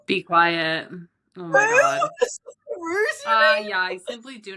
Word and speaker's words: Socceroos: Socceroos. Dude, that one British reporter was like the Sakaroos. Sakarus.